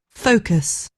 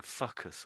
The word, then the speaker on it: focus: So let's listen to how they say it. Focus. Focus. Focus. You're saying fuckus almost.